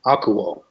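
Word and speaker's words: ἀκούω: this is a diphthong, so it's pronounced Is it all? No, eel. this would be one syllable. Okay. Aku. Ko. This. Aku. Uh-huh. Oh, akuo.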